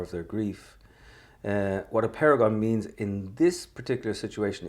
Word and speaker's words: Apeirogon: W: Let's start with the title of your novel, Apeirogon. I hope I pronounced that correctly.